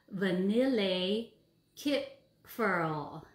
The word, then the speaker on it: Vanillekipferl: So the cookie I chose today is called, here it goes, Vanillekipferl. So that is spelled Vanillekipferl, Vanillekipferl.